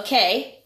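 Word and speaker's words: okei: they agree, they say, instead of okay, they say, okay. The word gets real long. Okay. It's a word. Yeah. Spelled O-K-E-I. Okay. We even write it down that way. Yes. It's not O and K.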